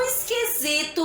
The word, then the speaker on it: esquisito: mas tão grande, tão esquisito, vovó. A palavrinha esquisito. Vocês observem aí, esquisito. Tá escrito com o quê? Com S de sapo. Mas tem um sonzinho na hora da pronúncia de Z.